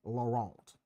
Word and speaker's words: Laurent: It's like Laurent, you know, because Canadian French. So the T is silent.